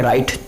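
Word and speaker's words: write: इसके एग्जाम्पल देख लेते हैं, जैसे कि राइट, WRIT राइट, ये कौन सा वाला राइट है, लिखने वाला राइट है। ये RIGHT राइट नहीं है, WRIT राइट। राइट मीन्स होता है लिखना, तो यहाँ पे W साइलेंट है क्योंकि W के तुरंत बाद R आ रहा है।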